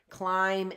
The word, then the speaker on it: climb: I am climbing right climb and climbing climb's a hard word to spell a little bit hard not that hard it's got a silent B on the end who made that up I